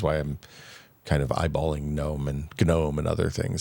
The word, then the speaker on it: GNOME: It It's pronounced Gnome. Yeah, we might say Gnome just to piss people off.